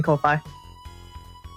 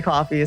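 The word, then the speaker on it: Ko-fi: do you pronounce it's actually supposed to be pronounced Ki as in like coffee but everyone hates it so words to saying Kofi yeah it's supposed to be coffee so you're actually correct yep thank you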